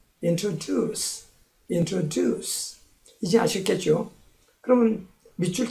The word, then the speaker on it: introduce: 거고 그 다음 단어 introduce 3음절인데 강세는 세 번째 있어요. introduce 이제 아시겠죠?